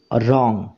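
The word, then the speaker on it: wrong: এটা ভুল this is রং this মানে এটা রং মানে হচ্ছে ভুল দিস ইজ রং এটা ভুল তো এখানে দেখো রং এই শব্দটার ডব্লিউ এই লেটারটা উচ্চারণ হচ্ছে না তাহলে মনে রাখবে ইংরেজি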